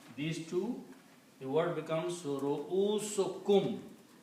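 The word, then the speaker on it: رؤوسكم: So when you combine these two, the word becomes ru'usukum. By combination, you pronounce only one dhamma here. So it becomes ru'usukum.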